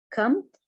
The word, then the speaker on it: combed: his hair, مشط شعره, okay, combed, البي هنا ما تلفظ silent, combed his hair and straightened his spectacles اللي هي نظاراته, عدلها إلى بشكل خط مستقيم.